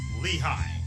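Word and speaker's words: Lehigh: German settlers shortened the name from Lea and the English pronounce it Lehi.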